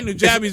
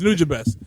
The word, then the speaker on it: Nujabes: New Job is I think I used have- to say Nujabes back in the day, but it was Nujabes.